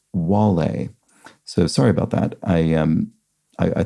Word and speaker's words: Wale: I apologize, but they're pointing out that for Two Down, the rapper's name, Wale, is pronounced more like Wale. So sorry about that. I think I mispronounced it whale because I was just